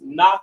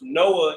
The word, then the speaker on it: Noach: According to the Bible, Noach, whose name means rest, is pronounced Noach in Hebrew, or the Lashon Kodash. It's pronounced Noah in the English, and its Strong's definition number is H5146.